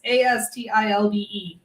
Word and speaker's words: Astilbe: It's Astilbe. Yeah. I don't know how I would have pronounced it, but it wouldn't have been that.